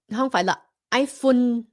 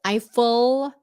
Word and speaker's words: Eiffel: a difference also stress Tower IUN I think that's the way Vietnamese normally say is IUN because they see the L and they they turn it into an N Stop if it's English it's Eiffel Tower Eiffel Tower in